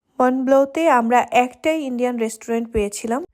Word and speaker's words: Mont Blanc: আর হ্যাঁ, জায়গাটার নাম হচ্ছে মনব্লো। আমি মনব্লো বলি কেন জানি মুখে চলে আসে, যেহেতু এ দেশের মানুষের স্পেলিং একটা আর প্রোনাউন্সিয়েশন আরেকটা, সেটাই প্রবলেম।